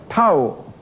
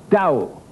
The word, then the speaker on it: Tao: You pronounce this with a slightly D sound, not Tao, Tao.